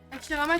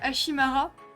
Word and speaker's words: Hashirama: Hashirama, tu sais, c'est le perso de Tanya, là. Non. Parce qu'en fait, elle le prononce tout le temps mal, et du coup, elle dit Hashimara.